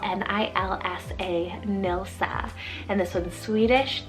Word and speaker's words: Nilsa: it's german rooted meaning alluring then we have nilsa spell n-i-l-s-a nilsa and this one's swedish danish and nordic